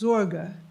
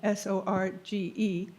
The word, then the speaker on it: Sorge: And the word care is very significant in being in time, but it refers to, in German it's Sorge, S-O-R-G-E, and it refers to, oh, don't bother yourself with that.